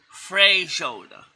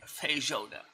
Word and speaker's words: feijoada: be probably something like freijoada. There is no R in feijoada.